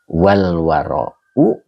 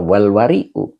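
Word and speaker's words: والورعُ: Nah, di sini wal wara'u apa wal wari'u yang benar adalah wal wara'u mulazamatul a'malil jamilah.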